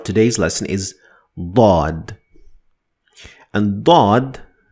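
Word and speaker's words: ضاد: lesson is bod and bod is again similar to death but it's much heavier version of the sound as a matter of fact bod is a unique sound that is only found in the Arabic language that's why the Arabic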